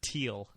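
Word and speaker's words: Thiel: Do you say feel the or teal? Uh I've heard it's pronounced teal. Yeah, but don't you feel like a jerk? Like Yeah, cuz there's a H in there.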